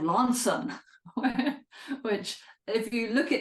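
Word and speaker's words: Launceston: little boy um born in a place called Lanson which if you look at how it's spelled it's Lester but but he told us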